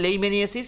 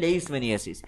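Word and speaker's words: leishmaniasis: Nano medicine for visceral লেইমেনিয়াসিস বা লেইসমেনিয়াসিস, ওকে, visceral লেইসমেনিয়াসিস বা visceral লেইমেনিয়াসিস, ডাক্তাররা প্রোনাউন্স করে লেইমেনিয়াসিস, আমরা সাধারণ মানুষরা প্রোনাউন্স করি লেইসমেনিয়াসিস।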